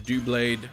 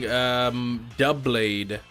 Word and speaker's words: Doublade: I'm seeing Duo Blade in the chat, and I'm seeing Doublade, as in double.